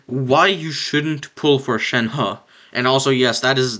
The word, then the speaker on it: Shenhe: i'll be showing why you shouldn't pull for shen ha and also yes that is the proper pronunciation because that is how shen ha says her actually her actual name in the game so don't say shan he say shin ha okay so basically i tested